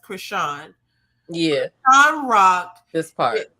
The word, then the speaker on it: Crisean: know obviously I think her name is pronounced Krishan yeah I'm rock this